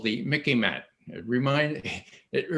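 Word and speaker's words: MICIMATT: an expression called the mickey man it remind it it rhymes with mickey mouse okay it's like what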